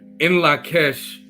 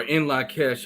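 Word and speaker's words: In Lak'ech: the greetings goes or the greeting is pronounced as in La Kesh a la king or in La Kesh I like him I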